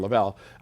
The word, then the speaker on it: Lavelle: Like if I were going to do this with Pastor Lovell right here, I would say Lavelle. I didn't say it right. Pastor Lavelle.